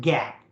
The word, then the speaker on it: GAAP: are going to learn gaap just pronounce it gap okay and that's generally